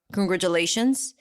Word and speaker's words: congratulations: so first of all the T here is not a t it's a j sound and do we say